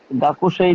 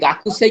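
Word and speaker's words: 学生: সান্তোসুয়া সান্তোসোয়া গাকুসেই, high সান্তোসোয়া গাকুসেই দেশ, যা আরিমাসেন। যা সরি শান্ত যা আরিমাসেন, রাইট। আচ্ছা এই যে গাকুসেই কিন্তু জাপানিজরা বলে না, গাকসে, গাকুসেই।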